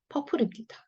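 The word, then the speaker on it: purple: 이는 소리가 없어진다 그랬어요. 마지막에 오는 이는. 자, 그래서 앞에 있는 피읍에다가 얼 발음 붙어 있네요. 얼로 읽어주시면 되죠. 펄. 자, 피읍 발음 그대로 피읍이고요. 그다음에 이 L이 리을이잖아요. 근데 자기 모음 없이 끝났어요. 당연히 앞집으로 가서 리을로 붙어야죠.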